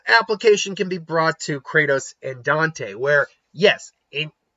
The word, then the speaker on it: Kratos: Neither can Kratos. Why did I say it like that? Kratos. Neither can Kratos.